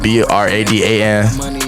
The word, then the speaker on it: Bradan: Y'all can get me at Bradan on YouTube, BRADAN. I also a music artist, BRAXDAN. Spelled, it's like pronounced Bradan though.